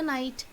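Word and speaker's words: knight: So night starts with the N letter and the other night starts with the K, but the K over there is silent.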